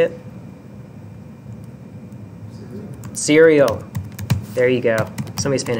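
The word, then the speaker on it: SERIAL: agree sequel y'all remember how to say it Syrio there you go somebody's paying attention cereal you can also say identity in version 10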